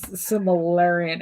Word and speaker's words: Silmarillion: It's like I'm not Tolkien, so I'm not doing the Silmarillion here, or whatever this Silmarillion, or whatever.